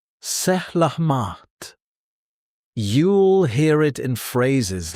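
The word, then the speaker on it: selamat: Salamat. Pronounced sehlahmaht.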